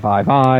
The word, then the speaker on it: Vi: I started calling her V before I watched the Champ Spotlight, and everybody's like, Vi. It's a long I, V-E-Y-E.